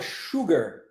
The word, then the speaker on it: sugar: X sure sure isso acontece também na palavra Sugar tá de Açúcar sure e quando a pessoa